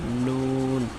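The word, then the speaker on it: نون: তারপর হলো নুন, জিহ্বার আগা বরাবর মানে উপরে তালুর সঙ্গে লাগাইতে হবে, ঠিক আছে। নুন নু নু নু নু নুন।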